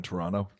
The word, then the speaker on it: Toronto: I remember I this is going back ages ago when I spent the summer in Toronto. Oh yeah, I pronounced correctly for all the Toronto listeners.